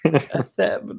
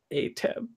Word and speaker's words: Atheb: It's TH, right? Atheb, not Ateb, or whatever it was, right?